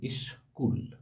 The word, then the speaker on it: স্কুল: উচ্চারণ হয় যেমন দেখো স্কুল শব্দের স্কুল দন্তস এ ক এই স্ক এর উচ্চারণটা হয়ে যাচ্ছে আগে একটা দল ইস পরের দল কুল অর্থাৎ স্কু এটি দুটো দলের সঙ্গে উচ্চারিত হয়ে যাচ্ছে ইসকুল স্ট্যাবল তেমনি স্ট্যা এই